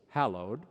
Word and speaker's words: hallowed: but the confusion continues some people put three syllables in the act of praise they say hallowed be thy name with a sort of ecclesiastical flourish the english word is two syllables hallowed and every time i